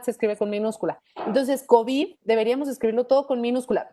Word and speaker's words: COVID: Si es que tú en español pronuncias COVID, pues resulta que tienes una palabra que es grave, que termina en D, y por lo tanto debes de ponerle tilde. Si no le pones tilde, la pronuncias como una palabra aguda, COVID.